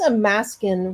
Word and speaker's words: Amaskan: Because Amaskan rhymes with Alaskan, Yeah. like being from Alaska, it knows Amaskan.